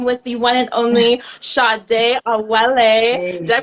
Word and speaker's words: Sadé Awele: For those that are just tuning in, I am with the one and only Sadé Awele. Hey. Did I pronounce that right, girl?